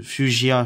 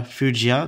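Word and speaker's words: fuchsia: terre cuite ensuite donc fujia fujia donc ça se prononce de la même manière c'est la couleur fujia ensuite saumon alors saumon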